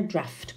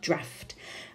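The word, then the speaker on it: draught: can feel a draft careful the pronunciation their draft corriente no GH like an F draft are you is there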